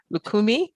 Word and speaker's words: Lukumi: this, and I'm going to screw it up, Lukumi.